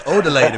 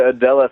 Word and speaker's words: Odella: I got to make sure I pronounce that right, because I grew up with Mexican kids, and that says Odele to me. What's up with that? No. It's definitely Odella Threads for Heads, man.